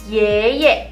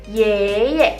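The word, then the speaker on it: 爷爷: Yang pertama kalau misalnya dari sisi ayah atau sisi papa, kita panggilnya yeye, kakek. Tapi dari sisi papa, yeye, kakek dari sisi papa. Berarti kalau kita panggil papanya papa, yeye. Yeye, kakek dari sisi ayah.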